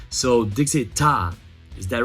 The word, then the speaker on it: Daechwita: So Daechwita, is that right? That's the right pronunciation.